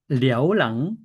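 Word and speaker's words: เลี้ยวหลัง: 자, 랴오랑, L 발음은 랴오랑 하면, 랑이 뒤잖아요.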